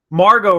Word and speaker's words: Margot: Margot Robbie, that's her name. Yeah, the T is silent.